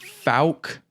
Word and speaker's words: Fouke: to go over the Falk monster I believe that's correct FAL f f like fouchy yeah it took a while too because it's it's spelled f o u k e so that one kind